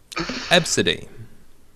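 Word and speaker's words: Abcde: they're pronouncing the dash second name absidy ABS it's got a nice sound to it it's spelled AB c d but the winner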